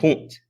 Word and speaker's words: Pant: Pant's name is pronounced Punt. Punt. Okay, punt. Punt. Got it.